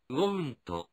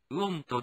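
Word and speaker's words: won't: はこうなります発音は want となります want ではないので気をつけましょうでは否定文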